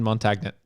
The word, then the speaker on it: Montagnet: It's probably French and Montagne or Montago or... No. We're in America, and his name is Captain, so... It's Captain Montagnet.